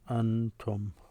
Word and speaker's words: أنتم: The way you pronounce them, antum.